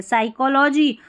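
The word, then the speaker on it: psychology: पी एस को स पढ़ा, क्योंकि पी एस को स इसलिए पढ़ा, पी जो है ना वो साइलेंट है, साइकोलॉजी।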